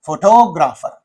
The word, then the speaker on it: photographer: When you pronounce this, you say photographer. The second syllable receives the primary stress and not on the first syllable, because here photo is there, photograph is there, photograph.